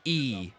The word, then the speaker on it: y: It's pronounced E. All right, E in Spanish.